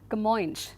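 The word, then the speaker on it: Camões: This historical epic the Luciettes was written by Kamoy and this is how this name is pronounced Kamo.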